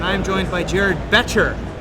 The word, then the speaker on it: Boettcher: am joined by Jared beter that's a beter silent o as opposed to my